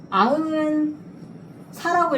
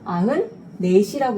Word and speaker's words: 아흔넷: 아은 아은인데 아은 사라고 읽으면 돼요, 안 돼요? 안 돼. 아은사가 아니라 아은 네시라고 읽어야 되는 거예요.